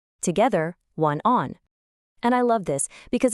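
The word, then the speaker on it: 晚安: In Chinese, it's one on. Let's try it. Repeat after me. One on. Together one on.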